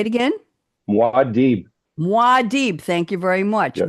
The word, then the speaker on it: Muad'Dib: Eric is quoting Guild Agent speaking to another word I can't pronounce, Muad'Dib, aka Paul. Muad'Dib. Say it again. Muad'Dib. Muad'Dib, thank you very much.